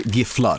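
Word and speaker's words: Gifflar: I do the American pronunciations because I don't want to switch on the fly, but it's really Giflar.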